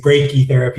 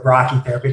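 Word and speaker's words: brachytherapy: Usually we happen to say breaky therapy instead of brachi therapy, but I'm sure somewhere they say brachi therapy is right as breaky therapy.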